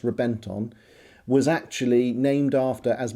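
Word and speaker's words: Reventón: A little special fact for you, the Reventon, it's spelt Reventon but it's pronounced Reventon, was actually named after, as many Lamborghinis are, a fighting bull.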